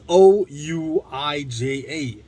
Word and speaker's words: Ouija: that it's spelt oh it's spelled o-u-i-j-a like how does that translate to ouija it's so weird and